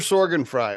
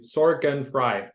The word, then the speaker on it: Sorgenfrei: and never worry about your maintenance again Soren Fry on the roer flex podcast hello how